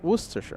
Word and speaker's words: Worcestershire: It's Worcestershire. Worcestershire. Yeah, it was pretty close.